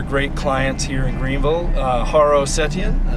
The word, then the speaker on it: Haro Setian: I am with one of our great clients here in Greenville, Haro Setian. I said all that right? You did. Do I need to spell it?